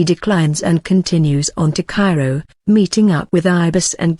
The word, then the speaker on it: Cairo: on the road to Cairo pronounced Cairo Illinois picking up a car